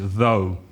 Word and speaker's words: though: be careful of the pronunciation though the same vowel sound as no go show slow or the letter O so the pronunciation is though even though so most